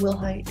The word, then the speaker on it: Wilhight: And are you Wilhight? Yes, ma'am. Am I pronouncing your last name correctly? Yes, ma'am. Will height?